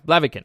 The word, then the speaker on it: Blaviken: Blaviken? Yeah, Blaviken.